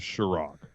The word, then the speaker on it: Sharrock: Nick, you said it correctly. It is Sharrock. And this is what I've tried to influence on others. I see the two R's. I understand the pronunciation.